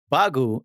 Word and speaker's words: Bagu: So the thing that was supposed to happen during the translation is Bagu is like the foreign way of pronouncing bug in Japanese.